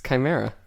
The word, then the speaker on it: chimera: or that sort of thing is that a Shima no CRA is that how you pronounce it yes that's Shimmer yeah no it's Chimera with a CH yes c h c c